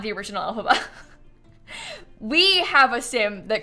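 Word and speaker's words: Elphaba: Rome of magic she is a play on Alaba from Wicked who is like the Wicked Witch of the West maybe you've heard of that that name is spelled e l p h a b a okay alphaba in The Sims is not the original alphaba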